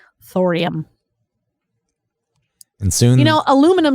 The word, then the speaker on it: aluminium: and soon you know aluminum is supposed to be Alum Al aluminium it has the eem just like every other element thing but we decided